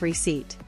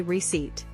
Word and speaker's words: receipt: p sound instead of receipt fix silent P just say receipt and this is my